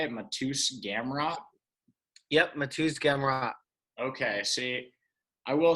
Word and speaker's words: Mateusz Gamrot: Yep, Mateusz Gamrot.